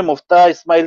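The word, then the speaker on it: Miftah Ismail: तो एक खबर जो मुफ्ता इस्माइल साहब ने, मिफ्ता इस्माइल में सही अगर प्रोनाउंस करूं तो उनका जो एक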